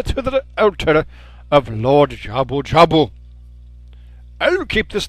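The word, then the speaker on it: Jabu-Jabu: jabu jabu okay so his name's jabu jabu it can be very easy to kind of mispronounce the name Java Java jabu jabu that's just not possible our Guardian God lord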